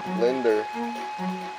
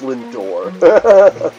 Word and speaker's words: Lindor: and Henry's world yeah Linder it's pronounced Lindor I got some Linder